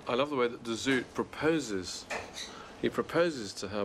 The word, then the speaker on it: de Zoet: female midwife, and Jacob de Zoet, if that's how you pronounce him. The Dutch might go for de Zoet.